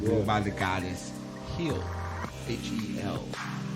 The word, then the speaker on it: Hel: H-E-L. Not hell. Hel.